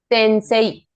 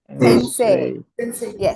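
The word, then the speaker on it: 先生: say say in say to elongate the say in this particular word it has an a sound you add e because that is the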